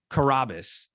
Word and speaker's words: Carrabis: like stool scenes like i say karabas at the beginning of every single episode of section 10.